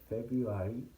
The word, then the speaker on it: February: So you can see that February is pronounced as OU instead of you pronounce the R.